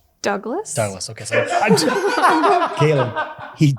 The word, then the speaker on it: Douglass: It is with two S's, which is unique. It's not the French version.